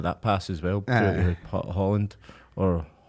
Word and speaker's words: Haaland: He said in Norway we pronounce it like this, but in England we pronounce it like that.